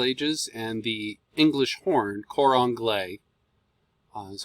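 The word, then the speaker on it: cor anglais: sham from middle ages and the english horn quran glay that's how it's pronounced um it was originally created in around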